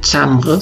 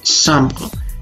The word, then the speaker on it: chambre: La C y la H en francés suenan sh, por ejemplo en la palabra chambre no se dice chambre, se dice chambre.